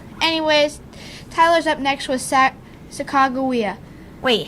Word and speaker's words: Sacagawea: Sacagawea's name is really pronounced Sacagawea.